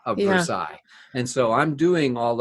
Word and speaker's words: Versailles: It's pronounced Versailles. Why? There's an E-L-L-E. We don't know, but that's the French pronunciation. That's the correct pronunciation of Versailles.